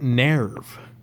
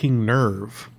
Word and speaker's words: NERV: time I hear it they pronounce it Nev they go like they were headed into nerve central base it's nerve goddamnit like I get that